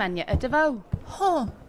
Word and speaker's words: Agnetha Deveaux: monk good morning I'm Anya Davao strange your name is not pronounced how it's written uh nah it's one of them weird ones from up North different language with the silent consonants only when my accent